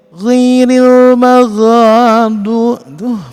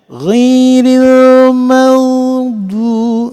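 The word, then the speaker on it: غير المغضوب: Alaihim ghairil mag itu ghin enggak boleh ghairil maghadu. Fatal itu ya teman-teman kalau dibaca seperti itu. Jadi harusnya ghairil maghdu, enggak usah keras itu ya, tapi lembut aja.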